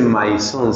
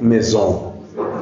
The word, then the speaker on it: maison: palabra en francés Maison no no se dice Maison se dice Mesón Mesón Ah pero yo